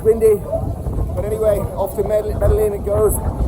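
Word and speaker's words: Medellín: How do they pronounce it in Colombian? I think it's Medellin. But I'm speaking English, so it's Medellin. Okay, that's another thing. If I'm speaking English to an English audience, I pronounce it as I see it. Medellin, okay? And not Medellin, because I am not speaking Spanish.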